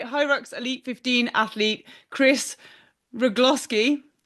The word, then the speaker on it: Rugloski: Today we are joined by HYROX Elite 15 athlete Kris Rugloski. Gloss that rhymes with lip gloss.